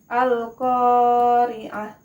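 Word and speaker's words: القارعة: nih ada yang pertama al-qariah bukan al-qariah bukan seperti coc-nya itu hanya dua harokat bet panjangnya Al Qoriah Al Qoriah kemudian ada Hai kalfaro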